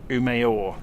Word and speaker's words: Umeå: wrong again aren't I so it's umor not um although it's spelled that way to a an english- speaking person the a with a circle above it is or so um or well that's